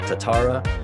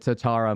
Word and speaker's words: Tatara: You know, in Japanese, it's kind of all the syllables are even, so it's like Tatara, so it's like Tatara would be Tatara.